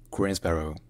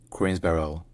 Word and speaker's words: Greensboro: Movement educational institutions and cultural events generally is pronounced green Sparrow green Sparrow or even qu BR qu br but locally it's sometimes pronounced green Barrel greens Barrel CR barel all right if you